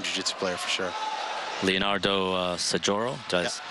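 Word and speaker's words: Saggioro: Leonardo Sajoro, did I pronounce it right? Sajoro, yeah, his nickname is Cascao.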